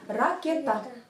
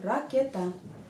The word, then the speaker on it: Ракета: И ракета. Просто ударение падает на последнюю букву. Ракета.